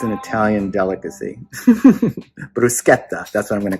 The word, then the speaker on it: bruschetta: People say bruschetta, but in Italian it's bruschetta.